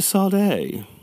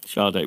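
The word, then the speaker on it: Sade: next story do you remember the musical artist sard Shard Shard well yes if you want to pronounce it correctly I do Shard I am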